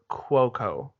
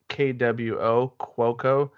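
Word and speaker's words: Cuoco: easier but uh Ryan CEST was calling her quoco Kwo quoco so that's how it's officially pronounced but the actress is pretty easy easy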